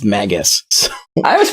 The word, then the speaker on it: BlueMagus: So yeah, I always forget too until I watch your videos that it's BlueMagus, not Magus. I'm just so used to like Chrono Trigger being like it's Magus.